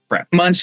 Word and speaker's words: Munch: Okay, did I pronounce it right? I didn't even ask beforehand. Munch Munch. Munch.